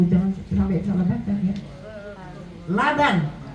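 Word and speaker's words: لبن: sampai salah baca ya Laban susu Ibu BAC bacanya Salah labin artinya misisan gitu ya Ada seorang anaki nyiramin kuburan orang tuanya pakai susu diteg kok disiramin pakai susu terus si hari besok lagi pakai susu terus I kan suruh nyiramin kuburan orang tuanya dengan Laban Salah bacanya tu labin bukan Labang jadi dia bacanya labanb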